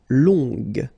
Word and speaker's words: longue: Okay, so long, remember you don't pronounce the final G, will become longue. Okay, so phonetically it's longue, g, longue.